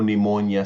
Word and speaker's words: pneumonia: There there'll be no pneumonia starting with the P.